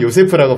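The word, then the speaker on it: יוסף: 빵을 만드는 우리 요새푸 히브리어로 요셉을 요세프라고 발음을 하는데 우리가 어쨌든 마리아의 남편도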